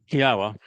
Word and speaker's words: Yahowah: Yahwa, which is the proper pronunciation of the name of our Elawa, God